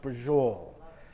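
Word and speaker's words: braciole: It's pronounced brajol.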